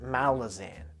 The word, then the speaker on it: Malazan: hey this is malaza everyone pronounces it malazan okay at least i got that right kiska i like i